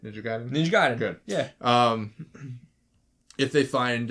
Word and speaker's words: Ninja Gaiden: Ninja Gaiden.